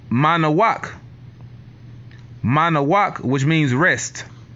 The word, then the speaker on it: Manoah: right his name was Manoah but the way you would say his name in Hebrew is mana walk manner walk which means